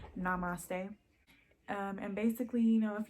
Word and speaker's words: Namaste: That one is pronounced Namaste.